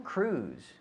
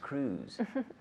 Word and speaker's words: Cruise: mio conocio a tom cruise we say in english tom cruise not cruise but cruz right a friend of mine met tom cruise yeah yeah did a friend of yours meet tom cruise no no no um